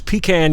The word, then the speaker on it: pecan: So, I skipped the downtown depot and went north of town to CSX's Pecan Yard. Now, folks here pronounce it pecan. Everyone in my family always said pan.